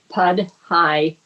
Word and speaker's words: Podhajski: 3 syllables. Podhajski.